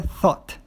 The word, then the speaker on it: thought: Igual, por exemplo, o verbo think, o passado dele é thought. Você não pronuncia o GH aí no meio desse verbo.